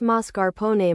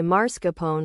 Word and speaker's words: mascarpone: If you pronounce mascarpone marscapone or turmeric, I will never refer to you as chef unless it's part of yes.